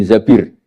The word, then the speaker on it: Zabir: Kemudian saya nikah sama Abdurrahman bin Zabir di hadis ini bukan bacanya bukan Zubair, tapi Zabir.